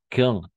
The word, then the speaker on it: quand: Aquí no es quand, sino simplemente quand. O sea, nos vamos directo del Q a la A. Y, oui, quand. Y la D no se pronuncia. Quand le café n'est pas